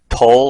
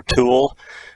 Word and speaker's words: tulle: This fabric is called tulle or tulle, however you want to pronounce it.